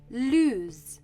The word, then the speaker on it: lose: a difference in pronunciation lose has a z sound loose has an s sound there is also a